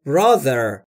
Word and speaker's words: brother: I talk to my brother ما ب یعنی برادرم برای تلفظ تی اچ در برادر زبون پشت دنون‌های بالا سعی میکنید بگید زهره یا زنبور یعنی صحبت میکنم تو یعنی